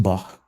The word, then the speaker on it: Bach: Even though his name is pronounced Bach.